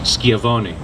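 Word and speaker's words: Schiavone: that yesterday with Francesca I now realize it's pronounced skiavoni with the sunglasses on I could not make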